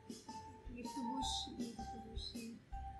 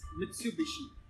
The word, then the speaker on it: Mitsubishi: Mitsubishi.